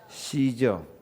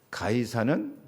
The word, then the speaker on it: 가이사: 시저. 시저는 영어 발음이고 가이사는 꼭 말하자면 독일어식 발음입니다.